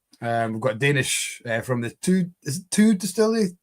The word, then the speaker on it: Thy: We've got Danish from the two distillery. Although it's spelled T-Y-E. It's spelled Thy, but it's pronounced two.